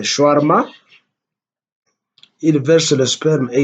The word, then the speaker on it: shawarma: s'appelle comment c'est shawarma, que les Congolais malheureusement prononcent mal en disant shawarma, mais c'est le shawarma.